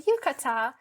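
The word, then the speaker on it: yukata: So she was asking uh what is this and how do you pronounce it and I said like oh it's a yucata and she was uh trying to uh learn from my culture as well.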